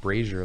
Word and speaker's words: brazier: me to the forest it's pronounced brazier like frasier yeah don't go there